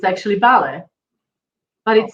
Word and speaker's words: vale: guess because i will like i always said vale right it means okay i thought it is vale pronounced vale and it's not it's actually ballet but it sounds like vale like vamos vamos